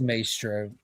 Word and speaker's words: Maestro: It's pronounced Maestro.